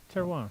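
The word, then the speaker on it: terroir: the second word ter Tero Tero ter it's a French yeah spell it in French yeah t e r r o i r it's like Terror but ey it yeah basically if you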